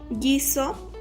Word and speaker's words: guiso: Pero la U no se pronuncia, como por ejemplo guiño, guiso y guerra. Se dice que la U siempre va a ser como muda porque a la hora de pronunciar no se escucha.